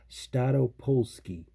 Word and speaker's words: Staropolskie: And I think I got the pronunciation correct. It's Staropolskie.